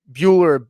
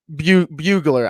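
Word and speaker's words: Brugler: And Ray Davis, Dane Bueller or Bugler. Bugler. I was trying to pronounce it right.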